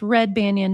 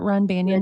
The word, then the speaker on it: Red Banyan: Oh, I've been saying it wrong. It's red banyan, not run banyan.